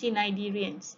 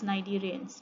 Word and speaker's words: cnidarians: Okay, cnidarian, you don't pronounce it as cnidarians, okay, or cnidarians, you pronounce it as cnidarians.